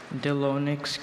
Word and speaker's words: Delonix: Delonix. Can I have all the pronunciations?